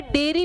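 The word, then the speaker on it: diary: डेयरी में नहीं लिखती। इसको डायरी प्रोनाउंस करोगे। इसको डेरी प्रोनाउंस करोगे।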